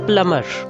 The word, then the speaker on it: plumber: must-haves in our kitchen next word is plumber plumber the one whom you call for repairing the water fittings in your house he is called plumber not plumber whenever b comes after the letter m it's usually silent so it's plummer i have already